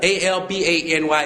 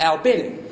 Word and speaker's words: Albany: Albany and you know what they got a a l b a n y in Georgia and they think you all and